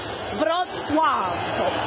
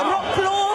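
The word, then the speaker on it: Wrocław: So, it's something to the effect of broad swave. So, I know it looks like rock claw. That's not quite it. Vuave, guys.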